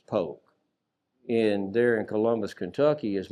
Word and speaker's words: Polk: It looks like it would be Leonidas Polk, but it's Leonidas Polk.